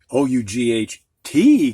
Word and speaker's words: ought: um actually the og o-u-g-h-t combination where g-h is silent and the o-u sounds like oh not how the first word here